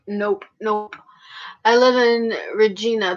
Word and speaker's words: Regina: nope I live in Regina people say it rhymes with something with something naughty yeah well I said